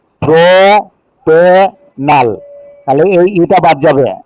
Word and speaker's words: propenal: থাকবে, ই বাদ যাবে, তাহলে একসাথে করে দাও প্রোপেনাল। বুঝতে পেরেছ? জি স্যার। প্রোপিনাল, প্রোপিনাল, PROPENAL, প্রোপিনাল উচ্চারণটা।